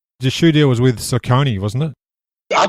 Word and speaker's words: Saucony: The shoe deal was with Saucony, wasn't it? I call it Saucony, but some people call it Saucony.